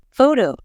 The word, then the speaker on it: photo: For example, in the word photo, we stress the first part, but in photographer, we stress the second part.